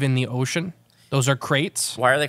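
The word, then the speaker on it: kraits: group name of them it's not spelled like a crate like a wooden crate it is like uh it's KR a i TS oh they're really pretty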